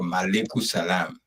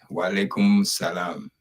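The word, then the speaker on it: وعليكم السلام: Yeah, many people think, many Liberian Muslims, they always misuse the word malaikum salam. And it's not malaikum, it's not M, it's W. Wa alaikum. Wa alaikum salam.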